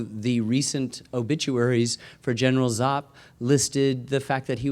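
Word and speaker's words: Giap: Minh and led by General zop uh g-a-g-i-a-p pronounced zop um they were both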